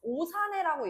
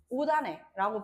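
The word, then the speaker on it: 옷 안에: 이렇게 얘기할 때 우리가 그대로만 연음시켜서 오산해라고 얘기하지 않잖아. 그치? 오산해라고 하지 않고 대표음으로 바꿔가지고 오단해라고 발음을 해요.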